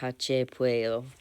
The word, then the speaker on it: Hache Pueyo: I believe their name is pronounced Hache Pueyo.